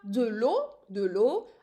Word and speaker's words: eau: For water, de l'eau. I'm using here three letters, but I'm just pronouncing it as if it's in one syllable, de l'eau or une eau.